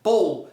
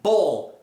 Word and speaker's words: ball: Essa aqui é bow. E essa segunda aqui é ball. Ball. Qual que é a diferença? Tá, Michel, como é que é a diferença disso aí? O L é pronunciado.